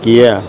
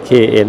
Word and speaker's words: Kia: ev5 สวย เลย เอ้ย เกียร์ อย่า อ่าน ว่า KN นะ ครับ Kia โลโก้ เปลี่ยน ใหม่